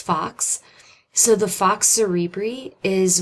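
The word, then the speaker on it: falx: form these structures so that word f a LX is pronounced Fox so the fox cerebri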